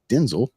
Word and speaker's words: Denzel: Denzel Washington which his first name is actually pronounced Denzel if you ever listen to him um and